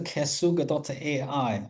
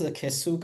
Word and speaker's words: KSUG: That's a Kasuga.ai or Cube Smart and AI user group. Okay. So, whatever you pronounce this kasuga or kasag, I pronounce as kasuga.ai.